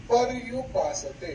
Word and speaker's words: पर्युपासते: यहाँ पे ऐसा बोला जाता है पर्युपासते। ये पर्युपासते बोलने के बाद क्या होता है? पर, ये र पूरा आता है, ये र पूरा बोला जाता है। ये गलत उच्चारण है। पर यू आधा र, यू के ऊपर रफार है, उसका उच्चारण आधार है।